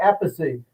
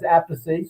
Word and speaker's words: Appice: And of course, Carmine became famous, and they couldn't pronounce it as Appice, so they called him Carmine Appice. So that's how we get three pronunciations. Appice is a family pronunciation.